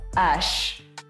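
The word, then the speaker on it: Æ: The name of the boy is X-A-E. Like an A-E, which is one letter. Yeah, which is one letter, but it's pronounced as Ash.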